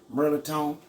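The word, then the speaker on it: mirliton: melatonin it ain't even spelled that way it's pronounced merlitone and uh we're gonna make a dressing with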